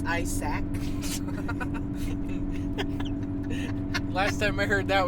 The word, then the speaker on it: Isaac: Spelled with one A. Technically, it's Isaac.